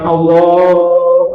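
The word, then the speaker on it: الله: Allah ku akbar enggak boleh. Jadi bagaimana? Allahu Akbar. Nah, begitu. Nyambung Allahu sepanjang apapun enggak boleh putus.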